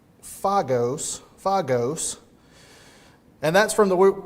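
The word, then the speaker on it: φάγος: There's a Greek word pronounced fogos, fagos.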